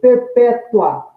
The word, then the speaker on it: perpétua: Adjetivo, perpétua, prisão perpétua, né? Note aí que o A eu falei também num único impulso, logo trata-se de um ditongo, então é uma paroxítona terminada em ditongo, visto que a penúltima sílaba é a tônica. Já em perpetua, eu tenho aí, nesse encontro vocálico, terminando a palavra, um hiato, um intervalo, uma pausa. Tenho dois impulsos para falar esse UA.